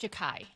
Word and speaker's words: Xhekaj: Apparently, it's pronounced Jakai.